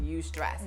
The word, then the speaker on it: eustress: And look at how that's spelled, but look at how it's pronounced, eustress.